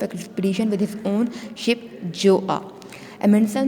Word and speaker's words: Gjoa: उसको लीड कर रहा था अपनी शिप में, जोआ में। इसमें GJOAA जोआ लिखा हुआ है, लेकिन आपने जी को साइलेंट कर देना है, जे से प्रोनाउंस करना है।